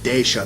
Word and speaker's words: Decha: wanted to ask them i said how do you pronounce it they said dasha they sent me that